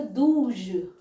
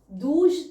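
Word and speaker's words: douze: वहीं पर अगर बात करें 12 की तो दूज दूज 12 को बोलते हैं डी ओ यू जड ई जूज ओके और अगर बात हो आगे थैज यहां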